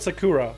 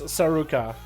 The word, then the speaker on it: Soraka: mispronouncing your monks name I would have called Sakura but it's Soraka and it was just sorry